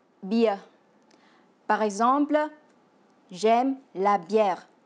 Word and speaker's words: bia: Ces boissons en vietnamien se dit bia, qui se prononce bia.